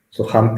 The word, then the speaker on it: soham: que se lo pero en dos sílabas southam soham es otro amante muy